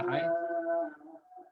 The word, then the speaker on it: laai: Di Kei itu ada istilah namanya damar matan, ini sebenarnya bukan mayan, matan laai bacanya laai.